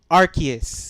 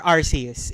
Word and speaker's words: Arceus: and it's Arceus Yeah. or Arceus, if whatever you pronounce it as.